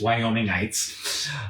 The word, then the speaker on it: Wyomingites: that is the correct way to say it's wyomingites uh Cheyenne is tucked into the southeast corner